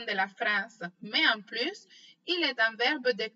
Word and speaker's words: plus: On ne prononce pas la lettre S à la fin du mot plus dans une expression négative. Exemple. Esra n'a plus la force de jouer. Carlos non plus.